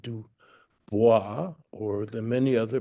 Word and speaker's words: Du Bois: Du Bois, William Edward Burghardt Du Bois, never pronounced Du DuBois, or the many other pronunciations people give him.